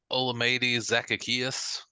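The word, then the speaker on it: Olamide Zaccheaus: zacateus you knew his name what is it olamide zacaeus Zacchaeus hey I did not bad I thought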